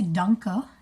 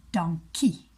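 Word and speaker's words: dankie: Sean Sean sorry anyway we don't say dunker in Afrikaans we say donkey so we kind of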